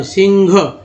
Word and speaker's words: सिंह: तो उससे भिन्नता के लिए और उच्चारण में ह जो है घ की तरह, सिंह, सिंह, सिंह, तो इस तरह से ये आ गया है और यही चलता है, तो चलना भी चाहिए।